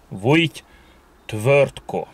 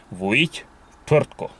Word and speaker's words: Vujity Tvrtko: Az említett népek nyelvében nem ritka, hogy akár négy vagy öt mással hangzó is kövesse egymást. Ilyen esetekben a kiejtésbeli nehézségeket kiküszöbölvén az R betű elé, amennyiben nem kezdőbetűről van szó, beiktatnak kiejtésnél egy rejtett, úgynevezett fantom ő betűt, egy ő magánhangzót, alig érzékelhető módon.